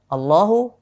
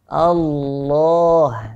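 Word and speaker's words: الله: tetap memanjangkannya dua harokat Jadi tidak kita membacanya Allah tidak pendek seperti itu tapi Allah seperti itu Allahu ya lafadz Allah lafadz lamnya yang kita baca tebal tadi ini dipanjangkan 2 harokat meski di sini tidak ditulis seperti ada ada madnya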